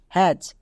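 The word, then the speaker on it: hatch: যেমন দেখো এইচ এ টি সি এইচ হ্যাচ। এবার একে আমরা রিডিং পড়ার ক্ষেত্রে কি করে বুঝবো? একই নিয়ম, টি এর পরে সিএইচ থাকলে টি সাইলেন্ট।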